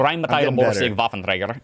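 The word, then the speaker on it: Rheinmetall-Borsig Waffenträger: Rheinmetall Borsig Waffenträger Tim. And then you said try to pronounce this. I don't know. Is that even close? That was actually really close. Come on. It's Rheinmetall Borsig Waffenträger.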